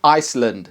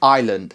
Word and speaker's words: Iceland: doing well thank you silent letters salmon Iceland sammon Island learn some common words with